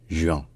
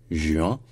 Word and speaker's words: juin: parle le français mais disons que la prononciation qui est la bonne entre guillemets celle qui est considérée comme étant correcte celle qui est associée au français de prestige c'est de dire juin voilà juin donc avec la la